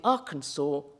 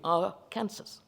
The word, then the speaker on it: Arkansas: Kansas sued to prevent Colorado from diverting the waters of the Arkansas River, or if you read it phonetically, it would be Arkansas River.